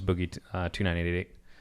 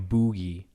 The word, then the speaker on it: Boogie2988: never heard of before the other one was boogie2988 I think I put too many eggs in that but the whole time Jeff Keely just kept calling him bougie he's like oh yeah